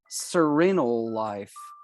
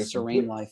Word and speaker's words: Serene Life: It's called Serenal Life. So thank you, Serenal Life, for sponsoring this episode of They got Serene Life, isn't it? Serene Life. Yeah, I that totally pronounced that Serenal Life.